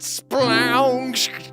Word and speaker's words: Splounge: I have seen enough uh Homestar Runner that I can do a canonically accurate pronunciation of Splounge. You got Splounge.